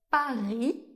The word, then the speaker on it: Paris: Et enfin, la lettre I et la lettre Y font le son /i/. C'est un i assez long, le même i qu'on retrouve dans"cheese" en anglais par exemple. On va le retrouver dans des mots comme Paris ou bien un lycée.